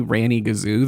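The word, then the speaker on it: Ranygazoo: word that is on the page is definitely Ranny Gazoo. There's no other way to pronounce it.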